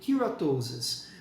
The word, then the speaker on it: keratosis: De modo geral, assim, no inglês, se tiver que chutar, chute o K, actinic keratosis. Geralmente eles usam a pronúncia com K.